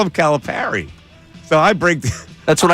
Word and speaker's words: Calipari: By that logic, it would be Calapari, which is probably why I said it that way. But it's wrong. You It's wrong. It's Caliperry.